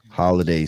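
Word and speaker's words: Holidey: Sultan Holiday, but DEY instead of D A-Y. So Sultan Holiday spelt with a D-E-Y. So Day like Bay because he's a Moorish brother, you dig?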